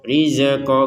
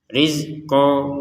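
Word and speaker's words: رِزْقًا: Nah, jangan sampai dipantulkan riqo. Rizeqo enggak ada huruf za di sini. Tidak ada harakat e di huruf zainnya karena zai ini sudah sukun mati. Rizqo. Nah, seperti itu cara pengucapannya.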